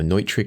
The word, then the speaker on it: Neutrik: color-coded XLR plug from new trick or neutrik depending on how you say it that's there is a